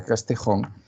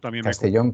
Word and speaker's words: Castellón: grandiosa imparcialidad llamado García castejón resulta Castellón Perdón Sí sí Castellón Sí sí sí lo tengo aquí bien escrito pero lo pronuncio fatal Gracias García Castellón Como